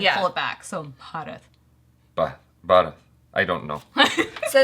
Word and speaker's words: Bharat: So if you over enunciate, then you start saying Bharat. Bharat. Yeah.